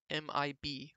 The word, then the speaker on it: MiB: 260 megabytes and now i'm not mispronouncing that that's exactly how you are supposed to say mib which is megabytes but in binary so med bitbytes it's